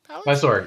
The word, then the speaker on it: Mysore: Is that how you pronounce it? You're moving. I'm moving two south of my core palace. Mysore?